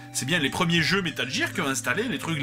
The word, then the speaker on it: Metal Gear: Et d'ailleurs, vous l'aurez remarqué, je prononce ça métal gir et non pas Metal Gear.